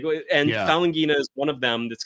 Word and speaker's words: Falanghina: Let me tell you, you pronounce it Falanghina, Falanghina, like, it's a nice Cthulhu sounding, looking and sounding word.